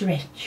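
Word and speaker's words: Rech: I think it's Rich if you pronounce it. It's Miss and then A-M-Y Amy and then R-E-C-H. I think it's Rich. But I will link her channel below.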